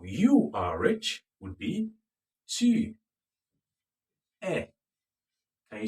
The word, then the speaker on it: tu es: Now, you are rich would be tu es. Can you say that? Tu es. Tu es. Tu es. The S is silent.